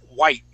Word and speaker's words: white: white so yeah so notice how I don't pronounce that T I say white teenagers white why okay so you want your you want your voice to Peak where that t sound would be white white teenagers white